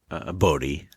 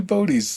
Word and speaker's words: Bode: see the Netflix show, the name is spelled Bode. How in your head did you pronounce that name? Bodhi. Bodhi? Okay, I was the first time I read it was like Bode. Yeah. Because like Ode to Joy or any of the other, like ODE was always just kind of Ode.